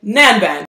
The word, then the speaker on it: Nanban: It's called Nanban by Arquiste, if I didn't say the name. And I always just joke that rhymes with Gangnam, or the other bad word, Nanban.